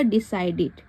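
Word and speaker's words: decided: पढ़ा जा रहा है तो याद रखिएगा कि जहां पर भी ईडी होगा तो उसको ट भी पढ़ते हैं लेकिन अगर ईडी के बाद डी के बाद ईडी होगा तो इसको हम इड पढ़ते हैं तो यह क्या हो जाएगा डिसाइडेड ठीक है उसके बाद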